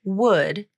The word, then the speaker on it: would: then lastly the word would has a funny spelling but but it's pronounced just like wood as in the material that trees are made of the L is silent